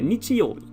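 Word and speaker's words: 日曜日: teach you that one today this is a nichioli and it means sunday it's the day of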